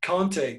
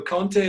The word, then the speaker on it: Conte: because they are antonio conte as manager and they were all coming on saying it's Conte and we were trying to say no it's the French it's Conte that's how they pronounce it you can't wait you